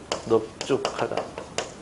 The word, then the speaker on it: 넓죽하다: 근데 예외가 있는데요. 넓적하다 넓죽하다 넓둥글다 이럴 때는 또 예외입니다. 이럴 때는 특이하게 넙으로 발음해요.